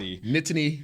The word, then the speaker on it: Nittany: He wanted to talk about nittany. Yeah, you gotta throw the T's in. Yeah, I A lot of people just roll through it, and it's almost like 2 syllables, but it's nitty lines. A nitty.